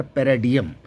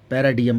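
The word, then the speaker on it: paradigm: मैंने लिखा यहाँ पी आर ए डी आई जी एम, तो इसको हम पढ़ेंगे यहाँ पर पैराडियम, पैराडियम पढ़ा इसको, ये साइलेंट हो गई जी की साउंड।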